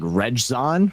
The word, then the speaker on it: Rejzohn: roster, especially when I always forget how to pronounce his name exactly. It's like Rejzon, I think. It's Rejzohn.